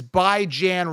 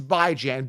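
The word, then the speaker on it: Bijan: pronouncing it right it's by Jan b-i-j-a-n Jan as in ran by as in bi-weekly b-i-j-a-n it's like common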